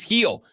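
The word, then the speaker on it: Gil: threatened they took Luis heel who has been a heila monster for the New York Yankees that joke uh works if you recognize his last name is spelled with a G they took heel last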